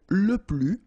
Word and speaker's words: plus: keep in mind that i don't pronounce it this final s here so we get le plus okay and then if